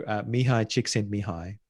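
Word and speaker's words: Mihaly Csikszentmihalyi: I've had people I've trained to pronounce his name properly, but forgive me if I get it wrong. So Mihai Csikszentmihalyi, who wrote a book called Flow.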